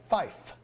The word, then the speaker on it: Fife: sound so we say Fife so to pronounce the number five we say Fife for three we say